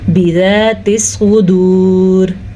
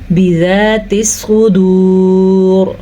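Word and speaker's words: بِذَاتِ الصُّدُورِ: وقف کی وجہ سے را پہ ساکن آ جائے گا تو پیچھے دیکھا واو ساکن، اس سے بھی پیچھے دیکھا تو صاد پہ پیش، تب یہ را موٹی پڑھی جائے گی. جیسا کہ باریک پڑھیں گے تو اس کو ہم پڑھیں گے بذات الصدور.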